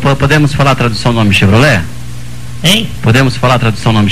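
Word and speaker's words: Chevrolet: v r o l e t que se pronuncia chevrolé com temudo né Então tá escrito aqui o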